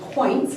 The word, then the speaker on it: Quoints: to the Quoints, and I'm pronounced Quoints, it's quite an unusual name, and I'm sure I'm